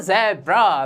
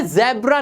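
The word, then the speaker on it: zebra: Z फॉर ज़ेब्रा। बिल्कुल गलत जवाब, ये ज़ेब्रा नहीं होता, ये पढ़ा जाता है ज़ीब्रा।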